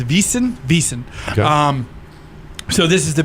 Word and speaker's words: Wiesn: Like I say, they call it a Wiesn over there. I think I'm pronouncing it correctly. I believe it's Wiesn.